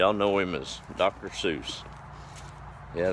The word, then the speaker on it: Seuss: Seuss yeah that's how his family pronounced his name was or would be called a fool if we said that wouldn't I guess it's all in what popular opinion ends up with their pseudonym dr. Zeus but that's another one